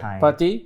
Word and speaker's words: Partey: You pronounce as Partey? Partey, CM from Atletico for 45 million.